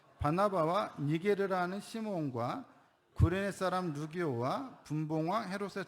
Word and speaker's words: 시므온: 시므온. 그럼 왜 시므온이 우리 주제와 연관되냐? 여러분, 시므온과 시몬은 똑같은 이름이에요. 시므온은 히브리식 발음이고 시몬은 헬라식 발음이에요. 이스라엘 말로는 시므온이라고 말하고 그리스 말로는 시몬이라고 말하는 거예요. 똑같은 사람이에요.